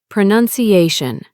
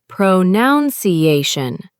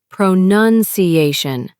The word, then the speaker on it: pronunciation: The word is pronunciation. Many people say pronuniation. The correct way is pronunciation.